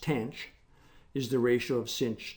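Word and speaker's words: tanh: For example, hyperbolic tangent, pronounced tench, is the ratio of sinh to cosh, and the hyperbolic secant, which I won't try to pronounce, is 1 over cosh.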